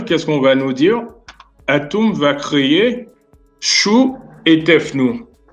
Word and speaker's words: Atum: Et dans la cosmogonie, par exemple, d'Héliopolis, donc on va appeler le créateur, ce qu'on appelle le démiurge, Atum, en fin de compte, ça se prononce Tum, qui signifie façonner.